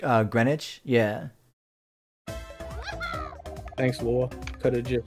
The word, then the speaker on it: Greenwich: i've never heard of christie's green witch it's pronounced uh greenwich yeah thanks laura could have wagered oh okay